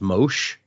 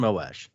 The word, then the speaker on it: Moash: recently someone say that some people pronounce it as Mosh, and I'm like, I can't see it. It doesn't work in my brain. Yeah, that doesn't, for some reason, that pronunciation makes me think of Moash as a surfer, and I'm like, I can't get behind that. Gnarly the audiobook says Moash.